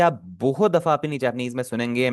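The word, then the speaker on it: ます: जब भी आपका जैपनीज में कहीं पर मास लिखा हो ना यह वाला एम ए एस यू यह लिखा हो तो यह आपका हमेशा ऊ साइलेंट ही होगा। इसे आप हमेशा मास से ही पढ़ेंगे। मासू कभी भी नहीं आपने पढ़ना।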